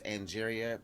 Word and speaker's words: Angeria: And I do want to just correct her name. It's Angeria Paris.